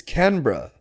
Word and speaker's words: Canberra: Oh, dude, no, it's Canberra. It's spelled Canberra.